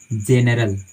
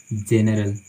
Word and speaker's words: general: साथ स्टार्ट होता है, तो आप इसका जो उच्चारण कीजिएगा सो जा का उच्चारण कीजिएगा, जा का, ठीक है, ना कि गा का, वो गलत हो जाएगा। जैसे मान लीजिए GENERAL, तो हम इसको पढ़ते